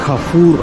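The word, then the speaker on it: Carrefour: நீங்கள் பார்க்குற இந்த கேஃபோ அப்படின்றதுக்கு இது வந்து ஃப்ரெஞ்சில் வந்து கஃபூர் அப்படின்னு சொல்லுவாங்க. நான் இங்கிலீஷில் உச்சரித்தோம்னா வேறு மாதிரி வரும்.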